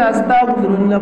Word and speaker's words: আস্তাগফিরুল্লাহ: আল্লাহর কাছে পানাহ চাই আর যদি আমরা বলি আস্তাগফিরুল্লাহ তাহলে দিয়ে উচ্চারণ করলে হবে আমি শয়তানের বন্ধু হতে চাই অতএব আমাদের আরবি ভাষাটাকে